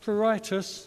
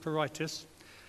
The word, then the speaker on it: pruritus: diagnosis and treatment because pruritus is the veterinary term for itch notice how it's spelled U.S at the end not itis it's not peritus most of it's spell